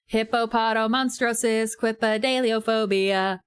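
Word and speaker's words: hippopotomonstrosesquippedaliophobia: Hippopotamonstrosis quipidaliophobia.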